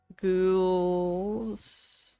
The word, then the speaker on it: ghouls: to rotate so so the h is silent in this one and the o and u make the ooh girl i said g l o glow ghouls and then the s